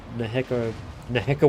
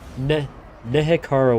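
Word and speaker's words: Nehekhara: Iron Drake's getting a little torn apart, but the Neheka warriors. Okay, Nehekara warriors. Nehekara warriors. Okay, there we go. Now I will never say it wrong again.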